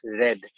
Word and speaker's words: read: used in the past if it's used in the past then you use the you pronounce it as red but if it's in